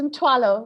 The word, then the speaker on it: Mthwalo: It's Mthwalo. We don't have the Mthwalo. consonant, so it's an aspirated T.